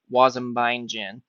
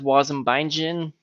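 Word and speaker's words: wasm-bindgen: this awesome tool called Waze and buying gin which I know it's spelled differently but always really makes me want a glass a gin so what is woz and bindin well it's sort of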